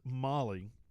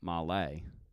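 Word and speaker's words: MOLLE: mole panel what is it so it is Molly it's Molly m-o-l-l-e-e um not Malay no so it's um I actually did the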